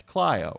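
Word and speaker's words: Clio: My favorite though is C L IO. That's CLO, right? Cleio Street. Do you know that there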